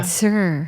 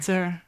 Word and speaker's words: Tsur: It's like saying No, but like it's spelled king. like TSUR. So, T-S-U-R. Yeah. Sir. Sir.